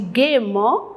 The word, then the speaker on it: gaiement: Quand on prononce, on dit gaiement, mais il y a un E tout d'abord, avant le ment, gaiement.